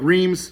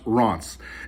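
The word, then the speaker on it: Reims: historic town called ross it's about like reams but it's pronounced ron's and it's an hour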